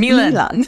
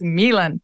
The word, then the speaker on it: Milan: Bishop Milan. Milan. I always want to say, I'm always like Fashion Week in Milan, but no, it's Milan.